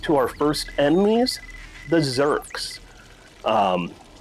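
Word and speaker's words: Zurks: our first enemies the zerks um I remember their name quite easily because it rhymes with jerks they look like head crabs from uh Half-Life 2.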